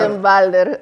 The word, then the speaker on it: Ottenwalder: Sí, yo tengo un deportista El santiaguense doctor con ese Manuel, apellido que pronuncia. Ottenbalder es Me daba realmente complicaciones.